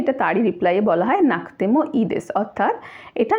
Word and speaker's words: なくてもいいです: নাকতেমো ই দেস লিখছি নাকুতেমো ই দেস, উচ্চারণ হচ্ছে নাকতেমো ই দেস, অর্থাৎ কুয়ের উচ্চারণটা কের উচ্চারণ হয়ে যাচ্ছে, কয়ের উচ্চারণ হচ্ছে নাকতেমো ই দেস।